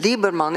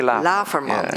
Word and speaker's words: Laverman: Well, I think that in the beautiful and impressive statement of Nienke Lieberman, it became, I say it wrong, Nienke Laverman, yeah.